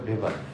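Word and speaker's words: Weber: আমরা অনেক সময় দেখি ওয়েভার লেখা আসলেটা হবে ভেভার ম্যাক্স ভেভার এটা ডিডব এটা কি এ ডয়েস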